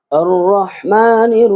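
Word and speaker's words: الرحمن: হবে আলহামদুলিল্লাহি রাব্বিল আলামিন আর রাহমানির রাহিম আর রাহমান এফ খারা জবর এক আলিফ মদ হবে আর রাহমান বরহা আর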